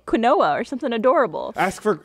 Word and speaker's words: quinoa: you were younger you used to think it was pronounced quoa or something something quinoa or something adorable ask